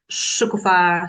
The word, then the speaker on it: Shukufa: This one is with Shukua stress on the last syllable uh who's in Bellarus.